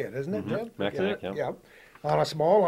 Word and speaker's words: Mackinac: Mackinac, yeah.